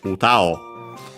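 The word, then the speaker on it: 歌: So yeah, uta o, low, high, low.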